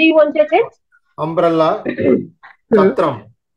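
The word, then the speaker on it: छत्रम्: Umbrella, chatram. Chatram. Again, Mahaprana syllables are not very clear. Chatram. Chatram. No, it's the same. Chatram. Alpha Prana only is coming.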